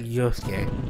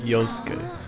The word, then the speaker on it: Yosuke: Yeah, it's like a one syllable off, so you can understand my confusion and why sometimes they have the same syllables. It's just you instead of yo.